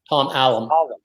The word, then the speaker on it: Tom Allom: Now, this record's produced by Tom Allom. I think that's how you say his name, right? Tom Allom.